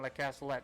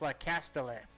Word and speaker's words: Le Castellet: I was saying Le Castellet. That's wrong. It's Le Castellet.